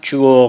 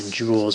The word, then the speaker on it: Joule: Joule, spelled like this, and named after James Prescott Joule, not Joule like a diamond or a gemstone.